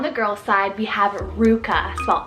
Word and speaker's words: Ruka: girl side we have Ruka as well r-u-k-a Ruka I feel like this one has this fun and peppy kind of sound to it very similar to Luca which I feel that